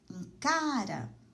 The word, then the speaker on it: cara: Em cara, a sílaba tônica é o K, é a penúltima sílaba. Então, cara é uma palavra paroxítona.